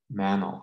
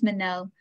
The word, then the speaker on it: Minelle: height of the pandemic mantle i'm sorry if i'm pronouncing your name wrong but go for it yeah that's fine it's minelle i think this um